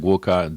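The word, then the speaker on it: gwoka: Yeah, guoka drum.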